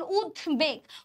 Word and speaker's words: উদ্বেগ: দেখেন উদ্বেগ, উচ্চারণটা কি? উদ, তারপর আমি কি বলতেছি? বেগ। তাহলে ফার্স্টে উদ বলতেছি, তারপর বেগ বলতেছি, তাহলে এখানে বফলার উচ্চারণ হচ্ছে।